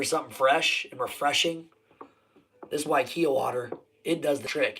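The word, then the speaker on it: Waiakea: It's pronounced Waikia water.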